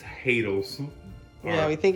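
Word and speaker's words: Haydel's: And this came from the Hadley Bakery.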